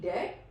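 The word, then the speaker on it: debt: Don't pronounce B if T comes after B.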